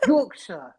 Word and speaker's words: Yorkshire: Yorkshire tea, not Yorkshire tea. Yorkshire. Get it right. Yorkshire. Pronounce it correctly.